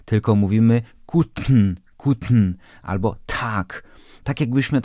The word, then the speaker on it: Guten: to się nazywa aspiracja t p i k wymawiamy nie tak płasko jak po polsku czyli nie powiemy tak albo nie mówimy Guten tylko mówimy kutn kutn albo tak tak